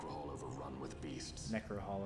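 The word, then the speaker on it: Necrohol: over run with beasts necro Hall is how you pronounce that okay Necker Halloween we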